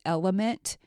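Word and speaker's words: LMNT: levels of cognitive performance this element it's LM NT that's how it's that's how it's spelled this zero sugar electrolyte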